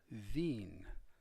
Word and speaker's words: Wien: you some more examples the capital of austria vienna is pronounced veen w-i-e-n and a guy from